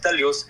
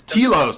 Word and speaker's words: telos: There's two types of teleos. Are you aware of the two types? It's telos, not teleos. You're not even saying it right.